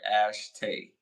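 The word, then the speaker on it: Ashitey: The homeboy from Brothers, and Claire Hope Ash Ashtay. Woo! Got a crazy name, and I know I pronounced that right. Ashtay.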